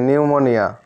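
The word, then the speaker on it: pneumonia: you will have নিউমোনিয়া স্পেলিংটা লক্ষ্য করবে নিউমোনিয়া এখানে কিন্তু পি আছে পি সাইলেন্ট আছে ঠিক আছে পি এর উচ্চারণ এখানে হবে না তো নিউমোনিয়া ইউ উইল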